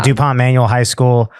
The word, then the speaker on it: duPont Manual High School: High school, DuPont Manual High School. I pronounced that right? Yeah. DuPont Manual High School.